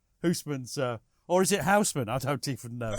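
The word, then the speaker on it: Housman: thumbed how did you how did you pronounce houseman then houseman as you just did how small that's good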